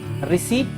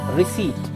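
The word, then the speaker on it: receipt: इसका प्रोनाउंसिएशन क्या होगा? रिसीट? No, this is रिसीट.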